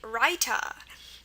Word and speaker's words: Raita: Remember our long I sound, the sound that's pronounced I is gonna be spelled with an AI. Really, that's the only way to spell it. Such as Raita and the word bhai, meaning brother, Bhai.